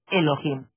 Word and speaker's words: Elohim: Eso significa Elohim o mejor dijer amos Elohim porque la H se pronuncia como J estos Elohim como quiera